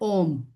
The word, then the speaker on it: ओम: ओम के लिए सही उच्चारण है ओम।